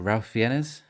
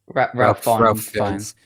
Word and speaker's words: Ralph Fiennes: And I always say his name wrong. Is it Ralph Fiennes? Ralph Fiennes.